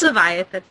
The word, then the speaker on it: Leviathan: server very cool and I am going to leviatan or how you pronounce this pronounce it's Leviathan um would it just make your guys' lives